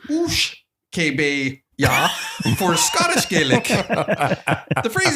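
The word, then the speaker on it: uisge-beatha: Or Ishkabaha is an Irish Gaelic pronunciation and pronounced Oosh Kebe Ya for Scottish Gaelic.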